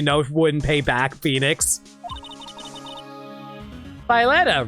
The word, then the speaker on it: Violetta: Violetta rhymes with Bernadetta.